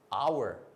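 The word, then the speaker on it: hour: 그 다음에 이것도 H로 시작하지만 H는 원래 자음이죠. 근데 이거는 묵음이죠. 소리가 안 나죠. 그죠? Our, honest, air 이런 식입니다.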